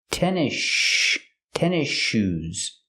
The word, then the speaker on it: tennis shoes: We don't say tennis shoes. The S is silent, and you link to the next sound, the sh sound in shoes. So you hear tennis shoes.